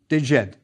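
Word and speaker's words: djed: There's the dejed pillar. It's a biliteral for the sounds J and D. Dejet.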